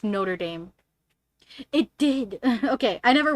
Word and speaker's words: Notre Dame: it at first i i said i said no tradom like that's how i would say it but then my mom was like no it's notre dame yeah because there are like colleges here that